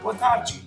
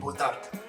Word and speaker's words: boa tarde: say like bom dia, boa tarde, like good day and good afternoon. But here they say bom dia and boa tarde. They kind of soften the vowels at the end and don't enunciate them as much as in Brazilian Portuguese.